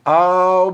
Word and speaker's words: I'll: I will, ao fazer essa contração, a pronúncia fica all, ok? Lembra da música do Michael Jackson, que ele fala assim, I'll be there, né?